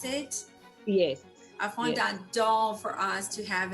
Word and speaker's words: fondant: Louis, and she made this, is it a fondant, is that how you pronounce it? Yes, A yes. fondant doll for us to have at the event.